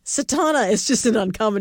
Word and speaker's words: Satauna: s-a-t-a-u-n like november a so think sat like i sat down a-u-n-a and there i